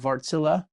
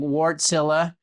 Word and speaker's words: Wärtsilä: He's the president and CEO of Vartsilla. Uh we usually have been walking around saying wartsilla, but we're working on our Finnish pronunciation.